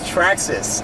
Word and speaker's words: Traxxas: the Trex SRC cars everything tracks ass it's pronounced Traxxas Traxxas no just kidding oh no we were